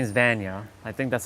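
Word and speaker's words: Vanja: cuz I I really enjoy what that lady her name is Vana. I think that's how you say it. V A N J A Va J is probably silent. It's more like a Y.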